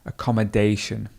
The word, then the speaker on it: accommodation: So you could say accommodation, or you could put your schwa in there as well. Accommodation. accommodation. 2 schwas in there, and actually there's 3 schwas. Accommodation. 3 schwas in that word. Accommodation, and the stress would be over the A.